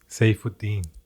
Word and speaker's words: Saifuddin: Saifuddin.